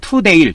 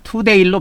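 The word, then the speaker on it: Tundale: 그래서 영국의 비전 오브더 투데일 투데일로 발음 투데일 투데일로 발음하면 되겠습니다.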